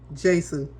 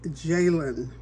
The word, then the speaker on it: Jalen: I called Jalen Jason for his name is Jalen Hurts, and Patrick Mahomes, who is of course an experienced quarterback, as I'm finding out.